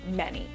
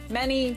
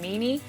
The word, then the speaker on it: Meny: So my full name is Meny. Meny, just like the word, although some people do pronounce it Meany, which is kind of funny, and I understand because it's somewhat of a weird spelling.